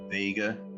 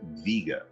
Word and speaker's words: Vega: It looks like Vega. There was a car named the Vega, but this is actually pronounced Vega, and there's a reason for that.